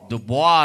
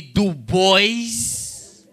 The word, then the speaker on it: Dubois: name is dubois dubois like w.e.b dubois jackson um janet dubois from good times yes i hate when people mispronounce my name call me do boys because i don't do boys one time i was